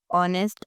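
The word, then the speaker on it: honest: जैसे कि what ऑनेस्ट आर। अब देखें इन तीनों वर्ड्स के अंदर हमने एज को प्रोनाउंस नहीं किया।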